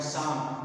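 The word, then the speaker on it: psalm: और ये ये भी बहुत अच्छा वर्ड है साम सा मतलब होता है गत सा ऑ लाइ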